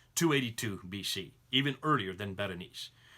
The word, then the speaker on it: Berenice: And then the next one is Berenice, which is in Egypt. Or Baranas. Baranis is another way you can pronounce it.